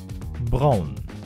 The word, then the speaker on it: Braun: ready let's go number one how to pronounce this brand name thus is BMV BMV number two Brown and the last one is yes it is